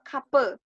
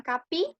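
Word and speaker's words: kapı: Pintu artinya kape. Kape. Bukan kapi, tapi kape. Nggak ada titiknya berarti e.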